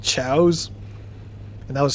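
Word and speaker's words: Choas: these little pets called chows and that was spelled chaos like c h o a s but they pronounced them chows and that was like a whole side story too.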